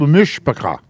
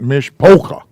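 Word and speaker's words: משפחה: pronounce incorrectly this is the first syllable and it is mish i'm adding the h there so you don't pronounce me something else mish uh mish paw so our family this church family is called mishpaka not mishpoca although that's funny ah let's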